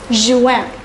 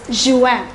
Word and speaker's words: juin: June is pronounced as Juin. I repeat once again, it's Juin.